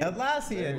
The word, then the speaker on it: Atlassian: Atlassian, you got it.